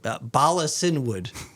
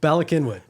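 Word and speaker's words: Bala Cynwyd: I mean, I'll pronounce it like it sounds, but Balasinwood. Okay, good. Balakinwood.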